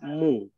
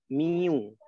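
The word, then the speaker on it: μ: Ini bacanya, huruf ini bacanya mu. Kalian baca mu. Tapi ada juga orang yang baca miu, boleh. Ya, tapi aslinya dia baca mu.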